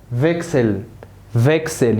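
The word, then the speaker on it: Wechsel: ها اللي تسي ها اس تنطق اكس. تسي ها اس تنطق اكس. زكس. ها فيكسل. يبقى زكس فيكسل.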